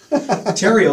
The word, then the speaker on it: Therriault: times with Tero you say stereo but leave off the S did you know that